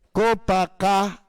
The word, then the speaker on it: Copacabana: Ang tamang tamang pagbasa at pagbigkas doon, Copacabana.